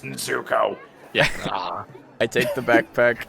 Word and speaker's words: Nezuko: pronounced Nezuko.